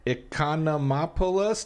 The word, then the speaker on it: Economopoulos: Costaki Economopoulos, did I say it right?